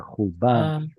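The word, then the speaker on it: חֻבָּשׁוּ: ולא חובשו Well, where's ולא, your stress? ולא לא חובשו Pausal, right? ולא did I say it right? Yes, you Hubash. did. I was just saying that it's in pausal, and that's why it's stressed there.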